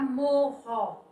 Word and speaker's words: morro: Quando eu acrescento mais um R, vai ficar morro. Ou seja, você vai pronunciar a palavra com mais intensidade.